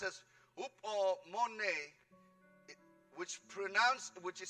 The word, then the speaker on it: hupomone: The Greek word that's pronounced as hupomone, which is spelled H-U-P-O-M-O-N-E.